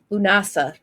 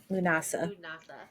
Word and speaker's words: Lughnasadh: it's here hold on lunasa lunasa lunasa don't don't worry about the D and the H at the very end of it it is Celtic and Irish spelling so it's lunasa I'm also there's a